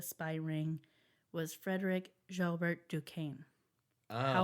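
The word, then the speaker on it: Duquesne: The Dukane spy ring. Okay. It's spelled like the university in Pittsburgh.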